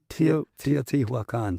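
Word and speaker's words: Teotihuacan: Teot Wakan.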